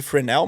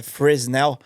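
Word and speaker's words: Fresnel: era incluso nas luzes muita gente às vezes até chama essas luzes de framell mas na verdade as luzes no Brasil acho que a pronuncia mais aproximada é friesennel né a pessoa fala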